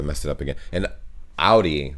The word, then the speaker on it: Audi: the comments down below the first one is audi most american i know it i know it but i know pronounce it like i just said it yes in german we say audi audi oh man dude i